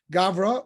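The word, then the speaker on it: גברא: but you add aramaic if you want to know how a word is pronounced often it's the hebrew word plus a vowel so gavra or means that this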